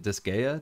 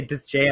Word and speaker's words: Disgaea: how to pronounce it disgaea disgaea oh yes yes that's another srpg i always say does j uh that's wrong yeah so these are